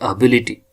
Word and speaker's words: ability: It is whatever it comes after the ability, but we had to pronounce this like ability.